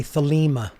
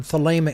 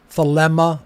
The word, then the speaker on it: Thelema: is spelled t-h-e-l-e-m-a and in greek the second e is a long a sound uh if you write the word thalema in greek it is